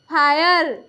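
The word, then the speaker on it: fire: आई आर E tyre F आई आर ई फायर ये क्या है ए डी एम आई आर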